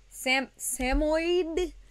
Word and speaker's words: Samoyed: So, that's a good reason to have the samoyed.